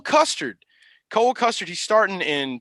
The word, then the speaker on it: Custer: not the same guy his last name rhymes with mustard it's cole custard cola custard he's starting